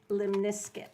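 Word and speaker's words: lemniscate: It really is pronounced limniscate, like a biscuit, in America. But anybody from biscuit. everywhere else they will make fun of you because it's the infinity symbol. Man. It's a limniscate, and I said How do they that.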